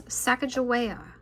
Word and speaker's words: Sacagawea: She has She has a fancy name, Sacagawea. You say it like this, Sacagawea.